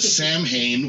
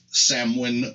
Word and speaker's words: Samhain: Not Sam's Hanes, that would be my wife's underwear, but Samhain, which is how it's spelled. However, it's pronounced in Gaelic as Samhain or Samhain. There's 6 or 8 different ways they say that they can be pronounced this way, this way, this way.